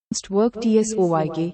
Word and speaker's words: Werkzeug: The German word Werkzeug, meaning tool, is pronounced work झूग work tsoyk, vktsk. It breaks down into Workzug.